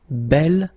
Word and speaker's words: bel: have to put this belle form instead of beau. Okay, remember you pronounce it belle, so like the feminine version, but then you write it B-E-L.